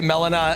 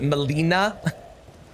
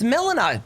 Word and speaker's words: Melina: Although I don't think that's very hard to say, but say Melina and not Molina. It's Melina.